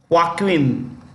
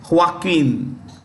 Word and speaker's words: Joaquin: Johnson is headed by Joaquin this J is pronounced with the ha H okay Joaquin duato that's the name